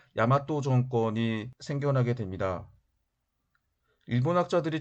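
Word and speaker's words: 大和: 외라고 하는 나라가 동쪽으로 이동했다라고 하는 뜻인데 그래서 4세기 경에는 대화, 즉 일본어 발음으로 야마토 정권이 생겨나게 됩니다.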